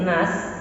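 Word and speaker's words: النَّاس: Nah, ketika nas ya, ujung ayat ini kan ada huruf sin. Maka untuk mensempurnakan huruf sin, mulut kita meringis nas gitu ya, agar sempurna pengucapan huruf sin.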